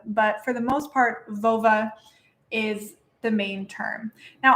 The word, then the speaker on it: völva: the main term now i'm pronouncing it right now vova because this is youtube and i don't want to get flagged but the actual pronunciation sounds a bit more like a female body part if you get catch